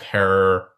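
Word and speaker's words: Herer: And of course, please do check out our episode on the late, great Jack Herrer, rhymes with terror, in the podcast feed.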